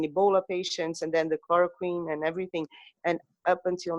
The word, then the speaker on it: chloroquine: and say, and I'm not sure how to pronounce this in English, chloroquine? Chloroquine, Yeah, how do you say?